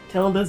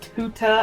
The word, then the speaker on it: Tilda: Yes, I've been saying Tilda's name wrong the whole time, so I just want to take a moment to say it's pronounced, I believe, Tilda, not Tuta, as I've been saying it.